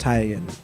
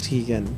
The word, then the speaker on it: Teigen: Now, I have been told it's pronounced Teigen. Like, that's the way that she pronounces it. But I know most people know it as Teigen.